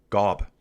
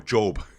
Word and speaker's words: Gob: Uh Gob. No, Job. Job. They spell it gobb.